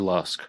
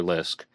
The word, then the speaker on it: Lusk: Lisk. And it actually says Mr. Lisk, M-I-S-H-T-E-R. Mr. Lusk, I guess, would be a better pronunciation.